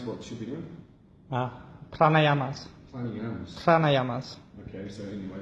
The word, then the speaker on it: Pranayamas: Again, it's how do you pronounce what she'll be doing? Pranayamas.